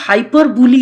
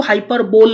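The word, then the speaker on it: hyperbole: খেয়াল করে দেখো কতগুলো হাইপারবুলি আছে হাইপারবুলি হচ্ছে বাড়িয়ে বলা উচ্চারণটা কিন্তু হাইপারবোল নয় হ্যাঁ উচ্চারণটা হাইপারবুলি ডিকশনারি দেখবে এটা আমরা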